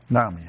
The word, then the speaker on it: NAMI: NAMI.